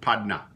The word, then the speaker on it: padna: A nice word we have in Louisiana French, it comes from the English word partner, but we pronounce it padna.